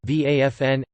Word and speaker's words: Waffen: the waffen-ss German pronunciation vafn SS armed SS was